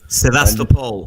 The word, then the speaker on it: Sevastopol: It was on the 26th of February 2014 when Spetsnaz went into Sevastopol, excuse my pronunciation. Sevastopol.